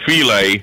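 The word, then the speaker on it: filé: It's spelled the same way as fish fillet, but it's pronounced filet.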